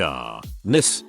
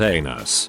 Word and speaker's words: Anise: one of my classes named anise pronounced ah n well calling roll call obviously I was an idiot and pronounced it anus ug my face turned